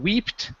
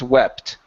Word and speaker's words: wept: This here is weeping because we have a double E. When we have a single E, okay, it's going to be a short E sound. So instead of weeped, the word is wept.